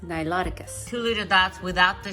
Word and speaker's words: Niloticus: Wrong pronunciation. It's pronounced Niloticus.